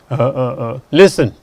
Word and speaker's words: listen: And the letters are there, but the sound is not there. Look at listen, wrestle, hustle, bustle.